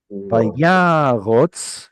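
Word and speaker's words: וַיָּרָץ: resh vav tzadi, and this vav here, which would have provided some kind of ooh sound originally, is converting over to an O sound. Remember, O and U sounds in Semitic language, or at least in Hebrew, are very closely related. Vayyarotz is because there's an original Vav there.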